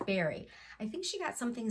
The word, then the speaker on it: Barry: I think Stitch Folk, who is Barry, it's not Bari. I've been pronouncing her name wrong. It's Barry.